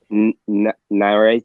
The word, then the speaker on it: Nerite: I seen a video last night where they were saying that Nyrite snails, is that how you pronounce it?